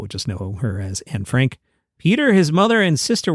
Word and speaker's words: Anne Frank: While there, Peter Lassally's sister went to school with Anne Frank or Anna Franka. My daughter was in a theater show where I learned that we're supposed to pronounce her name like that, but most people would just know her as Anne Frank.